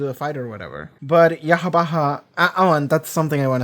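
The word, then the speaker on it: Yhwach: And the reply was, you're supposed to pronounce it like you would the name of God.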